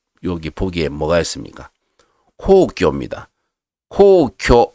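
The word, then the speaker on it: 皇居: 코오교 하게 되면 황거입니다. 일본 천황이 머물고 있는 곳을 황거라 그래요. 코오교라고 읽습니다.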